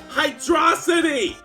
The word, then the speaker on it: Hydrocity: It's one word! Hydrocity! Hydrocity! You don't pronounce a Velocity, do you?